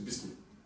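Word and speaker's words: بسم: bas et le is voilà pourquoi le Alif du is n'est pas prononcé on dit juste bis c'est ce qu'on appelle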